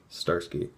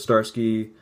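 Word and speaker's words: Zdarsky: Fraction and Shipp Starsky I think that pronounced Starsky Matt Fraction was on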